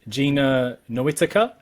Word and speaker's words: Gina Noetica: Well, we are live, and today I am joined with Gina Noetica. Is that how I pronounce it?